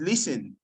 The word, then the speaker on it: listen: a nice job already the te in listen is silent it's not listening it's listen brilliant okay so do